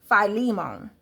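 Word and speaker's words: Philemon: and I've read and his name is pronounced phimmon. That's how you pronounce his name.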